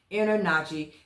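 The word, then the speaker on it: InterNACHI: I N T E R N A C HI is how I pronounce it. Inner Nachi.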